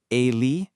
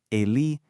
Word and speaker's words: Ele: In Brazilian Portuguese, these become Ele, Eme, Ene, and Ese. Go ahead, try practicing that out loud right where you are. Feel how they kind of bounce. Ele, Eme, Ene, Ese.